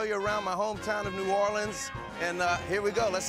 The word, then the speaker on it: New Orleans: on how the name of my hometown is pronounced let's start with the way I play it which is New Orleans I think most people say nuanced here's how you do not pronounce you often nollans if you say Nollan you are not from